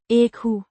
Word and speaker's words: ikke: Adverb meaning not, pronounced Ikke. similar to car. Both is a short and the k is a soft k sound.